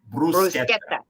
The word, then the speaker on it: bruschetta: It's not bruschetta. Bruschetta. Yes. You have to roll your R's.